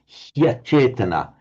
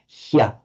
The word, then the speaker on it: hyachetana: He achetana becomes hyachetana. So it's pronounced the e followed by the a is just pronounced like an English y, an English y. So it's hyachetana.